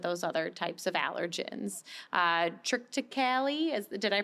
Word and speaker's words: Triticale: Triticale, did I pronounce that one? Triticale.